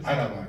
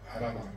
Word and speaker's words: Áraba: que ser en euskera tenía que ser Áraba, no Araba. Ahí, al no poner el signo, ya crítico de poner ahí, ¿no? Que esto se pronuncia como Álava, como esdrújula, pues entonces la tendencia es a decirla en llana, como Araba, como Aguíñiga, ¿no?